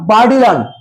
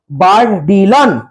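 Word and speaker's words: Bourdillon: অন্তর্ভুক্ত প্রথম টিমের মধ্যে ছিলেন কে ছিলেন টম বারডিলন উচ্চারণ দেখব টম বারডিলন বি ও ইউ আর বার ডি আই D double L ও এন বারডিলন হবে প্রথমটি দলে কে ছিলেন টম বারডিলান এন্ড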